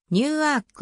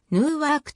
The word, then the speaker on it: Newark: となったなお現地の子名 new work は new work ではなくるーワークといった方が本来の英語発音に近いニューアークリバティー国際空港